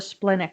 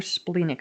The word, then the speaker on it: splenic: So next, we want to talk about the splenic authority or splenic authority. I've heard it pronounced both ways, so whichever one feels good to you, go with that.